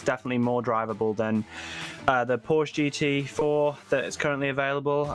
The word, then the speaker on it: Porsche: The Porsche GT4. No. What? Porsche. Oh, Porsche. Sorry. I did say it right, actually, on my other video, but I go back to my English ways.